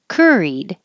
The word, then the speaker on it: curried: Curried. The CUR is pronounced just KER, cur.